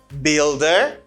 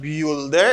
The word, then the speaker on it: builder: washerman a laundry man builder not bueller it's build bill bill builder brick layer brick layer